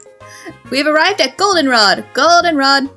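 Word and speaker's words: Goldenrod: arrived at Golden Rod Golden Rod the accent is on the o all right then all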